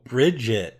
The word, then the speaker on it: Brigitte: of French bread say her name Dave Oh Brigid yeah yeah well I think she's on the